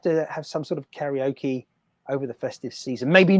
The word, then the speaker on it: karaoke: It's something like kare. No, karaoke. Exactly, like the Spanish pronounce consonant vowel, consonant vowel, consonant vowel. Karaoke.